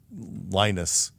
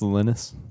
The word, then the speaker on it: Linus: the the Unix licensing drama was such that Lionus wanted a a Linux a Unix clone for wind for for Windows compatible PCs. Okay. X86 PCs. It's pronounced Linus.